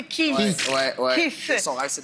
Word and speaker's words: Keith: le prononcer Keith.